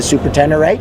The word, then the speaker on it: Ténéré: I pronounce it exactly as you did the Super Tenere.